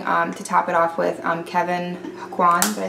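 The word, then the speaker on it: Kevyn Aucoin: then I'm going to top it off with Kevin Aquan.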